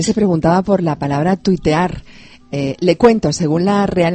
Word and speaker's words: tuitear: preguntaba por la palabra tuitear. Le cuento, según la Real Academia, están aceptadas tuitear, tuitero, tuiteo, pero se escriben como suenan, no al estilo inglés, sino tweet, T-U-I-T, así